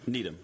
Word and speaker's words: Needham: Needham, is it Needham or Needham? Needham. Needham. So I'm saying it right.